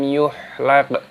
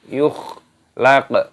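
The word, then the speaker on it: يخلق: Bukan lam yuhlaq, bukan, tapi lam yukhlaq.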